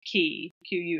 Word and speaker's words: quay: But yeah, and if you're ever around me and anything is spelt with a Q, like, you know, like key, Quay.